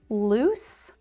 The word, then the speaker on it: loose: So in this section we have loose and lose. Loose. Lose. The difference here is the unvoiced s sound and the voiced z loose unvoiced. Lose voiced.